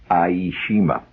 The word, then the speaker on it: Iejima: was summering on the island of e of aishima aishima which is one of the out Islands the Japanese islands that they took just before the surrender iima it's spelled i e iima where the camp recreational director had us all